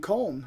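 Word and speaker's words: Köln: off in Germany and comb or cologne however you want to pronounce it do miss i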